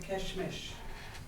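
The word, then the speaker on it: Késhmish: And I wanted to say happy holidays and wish you Merry Christmas in Navajo, Yat Keshmish.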